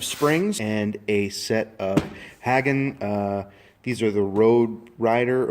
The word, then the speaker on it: Hagon: You get the your preload adjuster, a very nice unit made by the guys at Hagon, or Hagen. I think it's Hagon shocks. Rowwoods. I've heard it pronounced both ways, but I've heard it more or less Hagen.